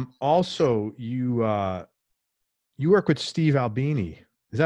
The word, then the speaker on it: Albini: Also, you work with Steve Albini. Is that how you pronounce his name?